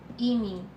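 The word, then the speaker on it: 이미: Yes, so imi, this is 2 syllable.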